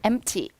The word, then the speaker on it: empty: 같은 표현 empty. P 발음 탈락.